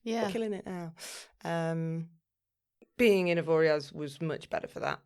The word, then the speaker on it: Avoriaz: That's how you phonetically would say it. I think it is Avoriaz.